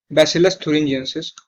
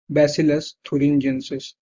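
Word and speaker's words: Bacillus thuringiensis: जैसे कि एक बैक्टीरिया है जिसका नाम है बैसिलस थुरिंजियंसिस. एक बैक्टीरिया है जिसका नाम है बैसिलस थुरिंजियंसिस. बैसिलस थुरिंजियंसिस, THURIN. इसकी स्पेलिंग बहुत इंपॉर्टेंट है. थुरिन जेनेसिस, GIENSIS. स्पेलिंग ध्यान रखेंगे सब. NSIS, बैसिलस थुरिंजियंसिस.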